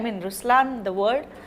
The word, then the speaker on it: Ruslaan: So even in Ruslan, when you say Ruslan also means the lion, it's the attitude of a lion, but the right pronunciation is Ruslan.